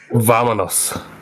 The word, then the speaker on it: Vámonos: Also, your lips should touch to pronounce the V sound in Spanish. So Vámonos.